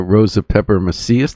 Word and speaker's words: Rosa Pepper-Macias: And we're talking to Rosa Pepper-Macias, did I say it right?